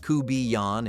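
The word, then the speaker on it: court-bouillon: The court bullion, pronounced kuban in cajinjun country, cooked low and slow until the fish flaked apart and the broth had concentrated into something deeply complex.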